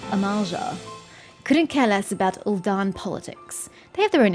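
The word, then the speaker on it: Ul'dah: of defiance her name ulda okay second syllable thank you narrator appreciate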